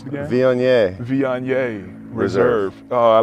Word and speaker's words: Viognier: How you pronounce it again? Viognier.